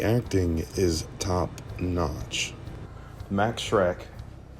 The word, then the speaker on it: Schreck: Max Schreck. Yes, his name was Shrek.